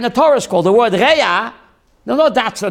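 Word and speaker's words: רע: Reya, in Hebrew, modern Hebrew, Biblical Hebrew, Reya, chaver is the lower level.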